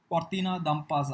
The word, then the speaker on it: Cortina d'Ampezzo: So in 1944, Cortina d'Ampezzo, I think that is how you need to pronounce.